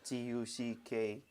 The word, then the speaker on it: Taka: But it's pronounced like Tucker.